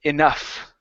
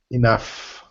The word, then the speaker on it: enough: straight okay um okay pronunciation of the word enough okay that's enough instead of enough okay give me a good F there at the end okay enough okay now good uh